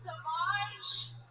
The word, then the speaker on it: Sauvage: Johnny Depp has a fragrance called Savage, pronounced Sauvage.